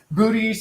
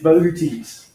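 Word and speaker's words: Boötes: in case you're wondering if it's booties or boutis you know that tells you it's boutis so you can look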